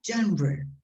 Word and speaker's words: genre: you know the word genre genre that's let me write the word gender is a bad pronunciation of gender it's not gender because gender means male or female be careful this is